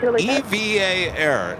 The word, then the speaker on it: EVA Air: Name EVA is always spelled in capital letters and pronounced EVA.